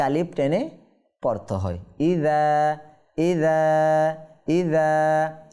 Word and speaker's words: إذا: ইযা ইযা ইযা। আর রালটা উচ্চারণ করার সময় আমরা একটু সতর্ক থাকব। ইজা বলে দেওয়া যাবে না। ইজা জুলজিলাতিল বললে এটা কি হবে? রাল থেকে ঝাতে পরিবর্তন হয়ে যাবে।